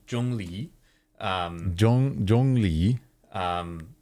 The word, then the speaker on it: Zhongli: and different characters wow so this here is jungi so for anyone who wants to pronounce it correctly jungi um Jong Jung Le